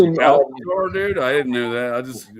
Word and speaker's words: Alcor: It's pronounced Alcor, dude.